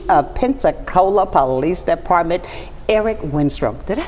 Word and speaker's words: Winstrom: And today, we want to welcome the newly confirmed Chief of Pensacola Police Department, Eric Winstrom.